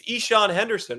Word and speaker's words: Eshawn Henderson: But a great game for them the other day, featuring it's Eshawn Henderson, right? That's how you pronounce his name, Eshawn Henderson pitched the other day for Springfield, and he has been so good for them.